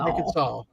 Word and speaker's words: Arkansas: 60c short of Arkansas Arkansas no you have to say it right nuh it's Arkansas yeah and and Mom I